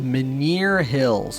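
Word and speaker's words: Menhir Hills: guards the entrance to the maner hills that's how you pronounce them the maner hills well that's good now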